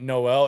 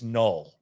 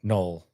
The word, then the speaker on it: Noel: And a lot of people are pronouncing it Noel. It's Noel, like rhymes with Cole. Just in case y'all are wondering. So Noel rhymes with Cole.